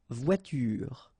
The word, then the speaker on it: voiture: Okay, but then you don't insist on it, so clearly you don't pronounce it une voiture. Same thing here. The last thing that you will hear is this r, voiture, voiture.